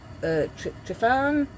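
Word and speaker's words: Tryfan: I want to do Helvellyn, I want to do Trefan, that's how you say it, in Wales.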